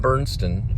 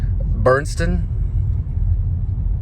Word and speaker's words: Burstyn: This is right after Ellen Burstyn. Oh, I mispronounce her name like she's a boomer. Burstyn?